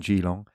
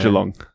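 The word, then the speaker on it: Geelong: Natur playing Gilong. Um, in a Jalong.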